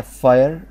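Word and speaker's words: fire: اوكي بعد كده فاير، فاير يعني نار، برضو الاي ما اتنطقتش كسره، ما قلتهاش فر، اسمها فاير.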